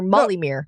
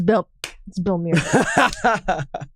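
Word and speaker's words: Bellemere: He didn't say Belmere. He called her Molly Mere.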